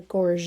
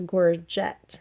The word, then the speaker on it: gorget: an area called the gorge now it looks like the word is gorget right or jet because there's a t on the end but we actually don't pronounce that e t because